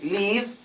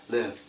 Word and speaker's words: live: that so for example some people say leave leave cuz they can't say it right but if you open your throat and pretend as if you're breathing out warm air it will sound more like live live fill Bill make it deep and let that warm air come out live fill